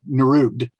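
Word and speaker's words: NROOGD: Well, people usually pronounce it Nerud.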